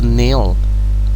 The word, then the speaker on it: kneel: So here we have to kneel, we never pronounce the K at the beginning. On prononce pas les K au début. So we say to kneel.